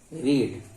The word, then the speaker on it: read: तो रीड, और रीड का थर्ड फॉर्म हो जाएगा, इसको बोलेंगे रेड। स्पेलिंग सेम रहेगा। मैंने क्या Read, पढ़ी है, read, what have I रेड।